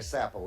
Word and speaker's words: Sappo: And I've got a dear friend back there, Sappo, S-A-P-P-O. That's how you pronounce his name.